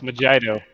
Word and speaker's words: Mojito: It's Mojito. It's pronounced Mojito.